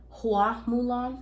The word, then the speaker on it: Hua Mulan: It's actually, and I'm not even gonna try to like say that I'm a professional pronouncing this. Hua Mulan. Yeah, Hua. Yeah, Hua Mulan.